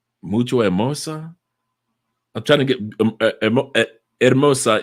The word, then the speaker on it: hermosa: what she say mucho Hermosa I'm trying to get Hermosa is beautiful because the H is silent mucho immerse she said